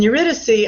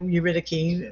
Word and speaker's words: Eurydice: Then Eurydice, also Eurydice, pronunciations vary, as a wife of Creon.